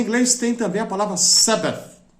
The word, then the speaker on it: Sabbath: a BB a th pra gente que é brasileira é difícil pronunciar né porque esse th final é um som que não existe em português a gente tenta pronunciar